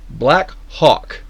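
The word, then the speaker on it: Blackhawk: Black Hawk, I will pronounce Black Hawk with an H.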